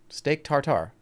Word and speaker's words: tartare: Steak tartare.